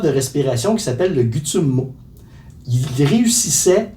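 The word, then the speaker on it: Tummo: Ça s'écrit T-U-M-M-O, mais ça se prononce Gutsummo.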